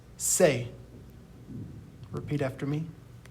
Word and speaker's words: ce: Now we're going to move on to C, which is pronounced se. Repeat after me. Se.